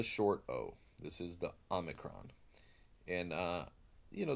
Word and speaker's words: Omicron: Omicron and you know there's different ways of pronouncing this I prefer to make it fairly similar to the Alpha make a distinct from the Omega the Omega Omega being long the long Oh I pronounce this as ohmic